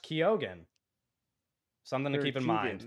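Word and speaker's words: Keoghan: uh Barry kogen confirms that his name is pronounced kogen something to keep in mind that's our that's our last piece of news um I used to say his name is Keegan yeah he confirmed that the pronunciation is kogan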